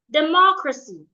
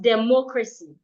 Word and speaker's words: democracy: The side is a verb, so I'm stressing the second syllable. The side. Spacious, an adjective. Democracy, not democracy.